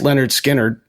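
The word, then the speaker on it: Lynyrd Skynyrd: Leonard Skard went into the studio to record pronounced Leonard Skard u their first album and they didn't know that they were going to get a bunch of takes.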